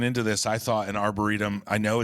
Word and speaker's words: arboretum: Some people say, we've heard so many mispronunciations. We have a whole, running joke in the arboretum, the arboretum, the arboretorium.